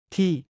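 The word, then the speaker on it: ที่: T 한국어 T보다 짧게 발음.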